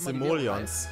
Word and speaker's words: Simoleons: Simoleons spricht man das aus.